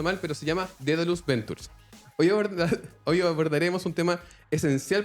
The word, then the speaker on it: Daedalus Ventures: fondo de Venture Capital que todo el mundo pronuncia mal, pero se llama Daedalus Ventures.